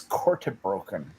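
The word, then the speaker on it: korte broeken: It's kortebroken. It's kortebroken. Good God. I used to say it wrong, but it's kortebroken. That's how you're supposed to say it in Dutch.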